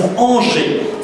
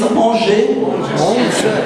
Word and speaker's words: Angers: Alors the right pronunciation is Angers. So can you repeat after me, please? Angers.